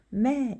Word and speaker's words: แม่: 그래서 이성은 올라갔다 내려왔다 한글 위에 이렇게 표시해주고 매 이런 식으로 발음하죠.